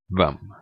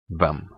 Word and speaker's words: hvem: Finally, silent H in words starting with HV.